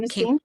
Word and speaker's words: carnosine: And so glutathione came out, AccuLife came up, and this carnosine, is that how you say it? Came. Carnosine. Yep. Mm-hmm.